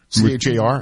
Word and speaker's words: Char: So, in Jackson, you may be familiar with Char. C-H-A-R? I think I'm pronouncing that correct.